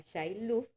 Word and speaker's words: Shiluv: usted tiene que aprenderse se llama Shailuf, que se escribe Shilu y la B pequeñita o la B de